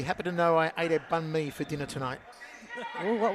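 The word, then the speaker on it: bánh mì: sisters will be happy to know I ad bun me for dinner tonight oh what was in it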